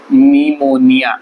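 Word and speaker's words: pneumonia: है इसको बोलते हैं निमोनिया नी नी मो नी हां इसको बोलते हैं निमोनिया प प साइलेंट है यहां पर आप देखिए पी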